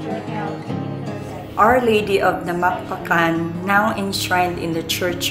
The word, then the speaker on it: Namacpacan: Namacpacan is the original name of the town of Luna and is an Ilocano word with an accent on the last syllable meaning one who feeds.